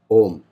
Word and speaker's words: Om: It is the most famous one syllable mantra, the Om, A-U-M. A-U-M is a complete a mantra covering all the chakras, because it starts, the A sound starts from the basic, from the Mooladhara and